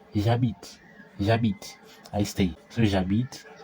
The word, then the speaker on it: j'habite: two vowels because h's in French are silent. It's like the h in there. It's like You see, there are two. And if there are two vowels that follow each other, we have to omit the first one. So, we'll omit the e and then you replace with an apostrophe and then you join them together. So, it will be the j apostrophe and that. So, it becomes j'habite.